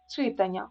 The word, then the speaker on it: читання: дивимося далі наголосно О читання Ми пам'ятаємо наголосна Ання читання завдання видання так тому читання неправильно і випадок чи випадок